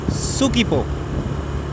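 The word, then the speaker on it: 서귀포: Ini kita sedang menuju ke kota Sukipo. Tulisannya Sukwipo, tetapi bacanya Sukipo.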